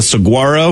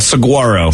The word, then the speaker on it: saguaro: uh the type of plant that is a saguaro danny it's a cactus why don't i just